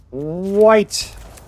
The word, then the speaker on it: white: me into playing red white i bet you had an olden days that people actually pronounced the h in white white it was probably important